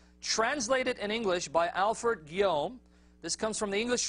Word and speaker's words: Guillaume: Guillaume. All right, French last name, man. I don't know. It's spelled Guillaume, but he says Guillaume.